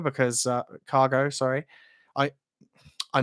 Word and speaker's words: Kago: you pronounced it wrong it's actually pronounced cargo rather than kago that's all I'm a